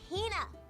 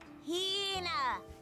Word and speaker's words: Hina: Ugh, you keep saying it wrong. It's Hina. Hina.